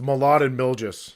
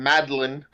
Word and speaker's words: Mladen Miljas: It's Mladen Miljas. That's how you say it. Because I've been saying Madeline. Like just mashing together the M and the L.